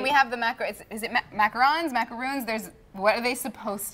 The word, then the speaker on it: macaron: So the real French way to say it would be macaron for these, and then the coconut domes, the American version, that would be the macaroon, spelled with 2 O's.